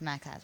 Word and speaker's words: Max Azria: Now, you have a new line that you're doing with Max Azria. And am I pronouncing his name right? Yes, Max Azria.